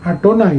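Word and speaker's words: יהוה: Jadi ketika Bapak Ibu menemukan Yud He Waw He Ye Ha We Ha, Bapak Ibu baca dengan Adonai langsung. Nah, itu yang disebut ketif dan kere. Tertulis apa, tapi bacanya harus bagaimana.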